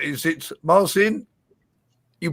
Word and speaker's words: Marcin: Is it Marcin? You pronounce it beautiful, beautifully pronounced. Yes, Marcin, actually, yes.